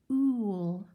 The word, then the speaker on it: cool: It is not an ew, like ew, that garbage stinks. It's an ooh, like ooh, there's so many presents under the tree. And when you say it correctly, your lips kind of pucker out like you're giving a big kiss.